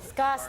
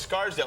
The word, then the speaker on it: Scarsdale: Oh, Scottsdale. thank you, audience, for correcting me on my foolishness. Oh, it's No, my Scarsdale. pronunciation. Don't. It's Scarsdale. Oh, Scarsdale, New Scarsdale, York.